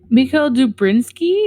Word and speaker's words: Mikhail Dubrinsky: Mikhail Dubrinsky, is that how you say his name?